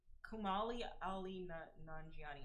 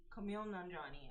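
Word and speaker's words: Kumail Nanjiani: Kumali Ali Nani. Okay, I'm sorry if I messed up his name. I'm so sorry. Kumali pronunciation.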